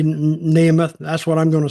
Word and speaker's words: Nemeth: saying his name right nehemoth well some pronounce it neemo some pronounce it nth I'm just sort pronouncing it how it's spelled really so either way I guess I say neth that's what I'm going